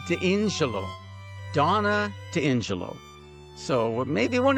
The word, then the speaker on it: D'Ingillo: No. D'Ingillo with an I. D'Ingillo.